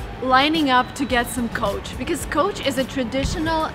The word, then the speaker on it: Coach: cat which couch and this brand name is coach and it's like a carriage with a horse this it's even